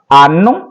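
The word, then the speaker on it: anno: होगा एक साल होगा आनो आनो जो आ का आ एन एन ओ हान वाला था वही इसका है प्रोनाउंस सेम है आनो और बहुवचन होगा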